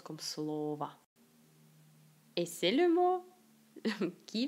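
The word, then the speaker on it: слова: c'est travail 8e slova slova on le prononce comme SL va donc c'est la la dernière o se prononce comme a et si vous ne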